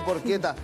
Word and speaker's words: porcheta: eh Por qué está se escribe por cheta pora pero se le porqueta y vamos a adobarlo